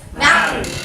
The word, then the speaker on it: mountain: Mountain.